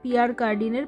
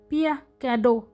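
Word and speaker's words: Pierre Cardin: খুঁজে বেড়াচ্ছি যে কোথায় পিয়ার কার্ডিনের পেন পাওয়া যায় পিয়ার কার্ডিন এই কথাটা ফ্রেঞ্চ ভাষায় উচ্চারণটা কিন্তু বেশ অন্যরকম পিয়া ক্যাডো কাঁদো কি যে বলছি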